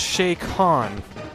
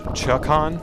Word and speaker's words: Chakan: it, I might add, it's pronounced Chakan. But I've heard most of the people I've met that actually know of that game pronounce it as Chakan, which makes some sense because K-A-N, Khan.